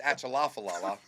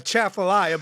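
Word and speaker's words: Atchafalaya: And look, man, I'm gonna pronounce it as it's spelled. You guys just don't know what it is. It's Achalafalala, right? But It's a Chaffalaya basin.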